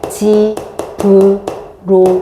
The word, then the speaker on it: 집으로: 자, 얘 발음을 어떻게 지브로 이렇게 하죠. 그지?